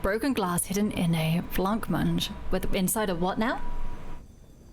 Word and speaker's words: blancmange: How to pronounce? Blancmange. Blancmange. Blancmange.